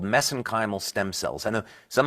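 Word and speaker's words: mesenchymal: for that but that's that's a little bit of an Irish accent on my part got uh but anyway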